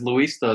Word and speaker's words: Luista: Hey, Louis, did I pronounce your last name right? You pronounced the last name. The first name is Luista. It's a Spanish name.